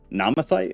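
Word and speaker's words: Naamathite: NTI okay tight yeah it's not TH or tight it's like an in between thing that we don't pronounce in English Okay that but it's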